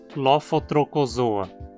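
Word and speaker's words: Lophotrochozoa: Lembre-se também de que CH se pronuncia como um K. Lofotrocozoa.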